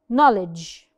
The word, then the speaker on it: knowledge: an N Mish benint knowledge knowledge had the same key no knowledge we do not pronounce the k knock someone is knocking